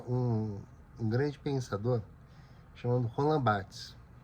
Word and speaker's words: Barthes: grande pensador chamado Roland Barthes. Sabe que em francês é raro se pronunciar o S. Ó. O S geralmente fica mudo e é contextual.